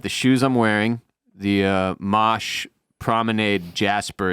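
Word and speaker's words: Mache: It's the Mosh dude, his name is M-A-C-H-E, and it's pronounced Mosh.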